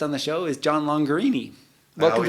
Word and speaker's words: Longarini: the show is John longer Amy well tell people rhymes with Lamborghini and it does yeah longer Amy and if you really